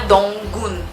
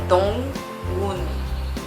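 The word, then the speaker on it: Dong-gun: do Dong Gun, que quando uma sílaba termina com a consoante e a outra começa sem nenhuma consoante, tem que ter cuidado para não pegar demais essa consoante de uma sílaba e levar pra outra e falar tipo dong gun. Não é dong gun, é dong gun. Dá para ver a diferença. Ai meu Deus. Tem uma transição assim mais suave.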